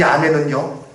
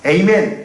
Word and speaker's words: 아멘: 이 아멘은요, 전 세계의 공통어예요. 물론 나라마다 조금 발음이 차이가 있어요. 미국 같은 데 가면 미국 사람들은 에이멘 그럽니다. 에이멘. 그래도 똑같이 똑같은 단어예요. 유럽 가도 아멘.